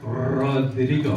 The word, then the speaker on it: Rodrigo: So my name is Rod, but for those that can roll your R's, Rodrigo.